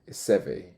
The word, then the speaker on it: Chevy: did I say Chevy Chevy okay it's spelled Chevy oh here in Britain we would say Chevy unless it's just me apologies she rides